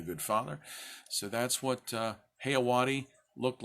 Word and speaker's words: Jeyawati: The J has an H sound, so say it with me. 1, 2, 3. JEYAWATI.